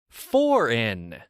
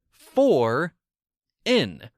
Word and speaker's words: foreign: okay are you ready for in for in with my accent it has the exact same pronunciation as two English prepositions for and in that's how you can